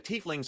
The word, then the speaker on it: tiefling: because I'm just into that thematically so the tieflings are either born in the lower planes or